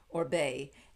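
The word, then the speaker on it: Oribe: o-r-i-b-e or Reeb but it's spelled but it's pronounced orbe and this is the bright blonde for beautiful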